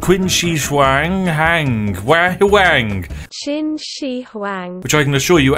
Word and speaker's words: Qin Shi Huang: Qin Shi Huang. Which I can assure you, as a British person, is exactly how it is pronounced.